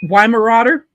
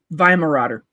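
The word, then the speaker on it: Weimaraner: hey what the why why Marauder people here in the United States call it why Marauder and that's not how it's pronounced can you write it chit it's it's vi vi Marauder makes me laugh Skipper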